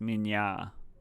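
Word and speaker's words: minä: Mina equals me, and it's pronounced like Mina. A is pronounced like Nya, but really fast. Minya.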